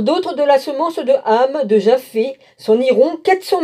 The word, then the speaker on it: Ham: Alors d'autres de la semence de Ham, de Japheth, s'en iront 400 000 hommes, et